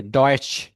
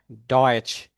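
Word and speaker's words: Deutsch: যে কোনো SCH যদি কি যেমন শুলে, আর যে TSCH যদি থাকে তাহলে ডয়েচ, ডয়েচ।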